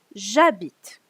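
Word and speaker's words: j'habite: you have a vocal foreign you um don't pronounce the e so you don't say a bit you'll say jabit okay because the French don't really like to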